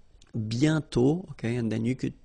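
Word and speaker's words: bientôt: mhm and then okay remember you put this aent circlex but you don't write it oh you sorry you write it but you don't pronounce it and then the final day is not pronounced bio okay and then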